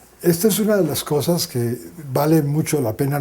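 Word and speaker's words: Xhosa: Él era de una etnia que se llama cosa, se escribe X H O.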